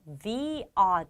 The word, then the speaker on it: the: 여기 서 한 가지 더 주목 할 점 은 제 가 "the" 가 아니라 "thee" 라고 발음 했다는 것 입니다 . 이유 를 아시나 요 ? 그 이유 는 "the" 뒤 에 오는 명사가 모음 으로 시작 하기 때문 입니다 .